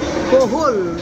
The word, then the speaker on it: kuhol: Cohol rhymes with pulpol.